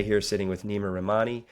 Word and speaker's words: Neama Rahmani: G here sitting with Nima ramani am I pronouncing your name correctly that's absolutely perfect thanks Stephen beautiful excited